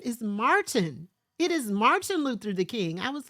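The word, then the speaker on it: Martin Luther King: who is this woman who is this woman Martha Luther the King my mother was like his name is Martin it is Martin Luther the King I was like but then the adults need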